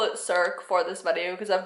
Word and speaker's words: Circe: Greek mythology and it turns out that it's pronounced curve K Kirk a wah like what I don't even I don't like